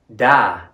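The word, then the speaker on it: đã: Our next word is da, which rhymes with ya or ma. But because of the tilde above the vowel, it goes from da to da.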